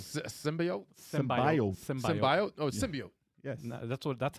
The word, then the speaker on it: symbiote: they said it wrong symbiote sybi symbiot oh symbiote yes that's what that's how that's how you're supposed to pronounce it really that's when you know the